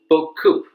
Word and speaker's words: BeauCoup: of french wine so i pronounce it in the french way book coup it means many a lot in french network administrators often need